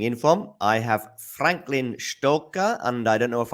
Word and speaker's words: Stoker: I Franklin uh good morning yeah it's Franklin stoker that's that's will do it perfect there were far more difficult names to pronounce in the tennis world that is for